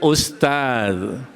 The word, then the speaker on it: Ustadz: Bacanya apa? Usto. Kalau nanyanya udah bener nih, Assalamualaikum, cuman setelahnya us. Seharusnya Ustaz.